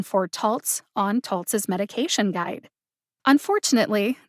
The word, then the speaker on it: Taltz: option because there happens to be a written pronunciation for tolts on toltz's medication guide unfortunately this is one